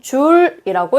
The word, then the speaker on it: 줄: J라고 쓰고 읽을 때는 줄이라고 읽는다.